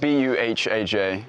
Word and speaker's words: Buhaj: it's spelled B-U-H-A-J.